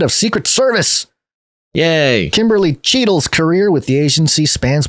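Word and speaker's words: Cheatle: secret service yay kimberly cheadle's career with the agency spans more than 25 years including numerous cheetos rolls yeah like like don cheadle no spelling cheating it's spelled differently yeah dhs inspector general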